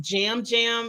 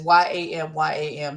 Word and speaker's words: Yam Yam: I think it's pronounced jam jam. They pronounce the Y like a J, but I just my vision say Jam.